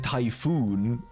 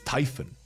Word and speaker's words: Typhon: it's Typhon the people saying typhoon are wrong it's Typhon it's it's not about